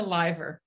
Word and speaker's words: Lyver: It's Lyver. Lyver.